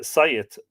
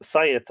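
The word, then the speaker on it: saighead: sagittar uh anyway uh sajit pronounced uh Syed because the G is limited s-a-i-g-a-g-t pronounced sayeth or Syed probably a lone word from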